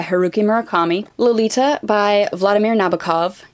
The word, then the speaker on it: Nabokov: murakami Lolita by Vladimir Nabokov yes I'm pronouncing it Nabokov people of the internet who insist on correcting me I have had many many professors pronounce it Nabokov the face is familiar